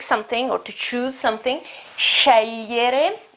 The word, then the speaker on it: scegliere: I know the pronunciation isn't very easy here because you have the GL sound. You remember my video about pronunciation, about phonetics. The pronunciation is when you have a GL sound and then a E.